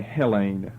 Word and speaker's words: Hellene: and this is simply Hellene. Accent on the first syllable for the first time now. All the others have been on the last. Hellene, H-E-L-E-N. But all these, what look like N's to you, these are all long E's.